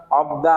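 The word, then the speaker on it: 없다: তাহলে এটা কি হবে, মানথা, মানথা মানে কি বেশি, আনথা মানে কি বসা, অব দা মানে কি নাই।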